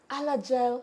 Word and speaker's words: Alagille: It's even hard to pronounce them. Alagille syndrome.